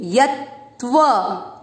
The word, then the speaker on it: यत्व: यत्व, दोनों त का उच्चारण आना चाहिए, यत्व।